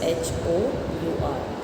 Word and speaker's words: hour: Now here if you see the word student, it's H-O-U-R, hour, right. And in this word the first letter is H, which is a consonant, but we do not pronounce H, right.